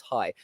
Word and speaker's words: Rai: Apparently in Brazil the H is silent. I have learned this. Really? Oh, sorry, R. The R is silent, so it's high.